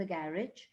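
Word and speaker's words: garage: आई do poses a कार एंड इट इज इन द गैरेज, एंड गैरेज की जगह actually the correct pronunciation is गराज, round the corner.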